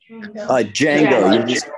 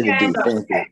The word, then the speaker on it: Django: Django. You don't say Django. The D. Thank you. The D is silent. Okay, thank you.